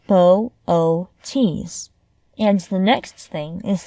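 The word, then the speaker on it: Boötes: Laurie glancing at the sky is to pronounce its name correctly Bootes is pronounced bow o tees and the next thing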